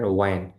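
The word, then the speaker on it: when: তো এই যে চারটা গেল, হোয়াট, ওয়াই, ওয়ার, ওয়েন, এই চারটাতেই এইচ উচ্চারণ আসবে না।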